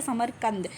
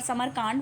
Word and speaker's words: समरकंद: देखो इसमें क्या है, मैंने समरकांड बोल दिया था, इट्स समरकंद। ठीक है, समरकंद बोल दो या समरकंद, समरकंद भी बोलते हैं, समरकंद भी बोल दो, पर समरकांड वो नहीं होगा।